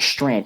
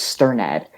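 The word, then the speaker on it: Strnad: name wrong because it's it's not strand it's sternad because there's an RN a d it's really weird I'm not I'm not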